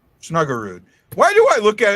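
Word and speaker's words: Snuggerud: No, it's you're saying it's it's snugger and I'm saying true guard, so kind of put on the R.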